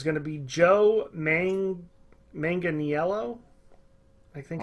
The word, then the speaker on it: Manganiello: and it is going to be Joe main Manganiello I think it's how you say it it's